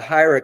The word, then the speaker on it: Hedera: Hira. Yeah, it's short for, or it's meant to sound sort of like hieroglyphics.